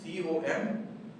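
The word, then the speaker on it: comb: इसे कॉम्ब नहीं बल्कि में हम COM, बी साइलेंट होगा और हम पढ़ेंगे COM, कॉम्ब।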